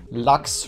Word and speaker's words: Lux: Lux rhymes with fucks.